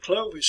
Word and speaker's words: Clovis: the french equivalent to louie and so we pronounce it clove is here but i think probably in france you see here it pronounced as clovey as clovey so anyway and that's clovis here